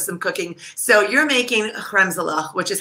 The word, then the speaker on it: kremzlach: Yeah, it's so funny actually that you mentioned that, because in English, when you transliterate Hebrew, you always do CH, like Hanukkah, right?